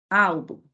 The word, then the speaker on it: álbum: Então, pela pronúncia, olha. Álbum, mé. Então, todas são paroxítonas, por possuírem a sílaba tônica na penúltima sílaba, e todas essas terminadas em ou uns.